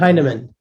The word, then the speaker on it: Heineman: Tu veux-tu me donner son nom de famille là, que je suis incapable de prononcer? Emile Heineman.